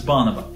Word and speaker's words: Bonobo: No, it's bonobo.